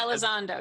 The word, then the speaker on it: Elizondo: Elizondo, Lou isn't it? Elizondo.